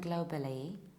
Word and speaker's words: global: And now think, what is the shape of this globe? Is it square, like when you say global, globally? No, it's round. It's global, globally.